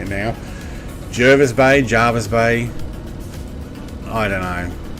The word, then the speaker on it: Jervis Bay: for the naval uh pronunciation of Jervis Bay is that how I was pronouncing it Jervis Bay not Jarvis Bay I have no idea